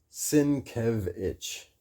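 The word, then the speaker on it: Sienkiewicz: Bill Sinquitz Sinitz Sinquitz Bill whatever Bill go to his his website si e k i e w i cz sinkevich. He has pronunciation at the top of his site.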